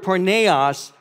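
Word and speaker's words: πορνεία: Greek word and it's the Greek word is pronounce the word porneia oz speaks of every form of sexual practice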